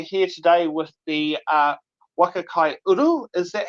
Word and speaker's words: Waka Kai Uru: But we're here today with the uh Waka Kai Uru.